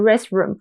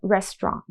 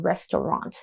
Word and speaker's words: restaurant: a nice restroom near 师大。我整个笑死 OK，为什么呢？他发音真的太烂了，他把 restaurant 然后不知道为什么他就念成 restroom 或是反正就是很接近 restroom 的发音，所以这个外国朋友听到就是哈，师大的厕所有提供好的食物 OK，所以同学们发音是很重要的 restaurant or restaurant 都可以，发音要仔细。好，我们来看一下这个字如果用在一整句当中要怎么用。This restaurant has the best hot pot in Taipei.